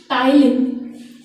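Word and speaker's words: ptyalin: Saliva में salivary amylase है, saliva में सलाइवरी अमाइलेज है, पर कौन सा अमाइलेज है ये हम आज पढ़ेंगे, that is टाइलिन। P silent है, the name of the salivary amylase is टाइलिन।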